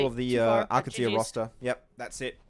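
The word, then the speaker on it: Al Qadsiah: AlQadsiah.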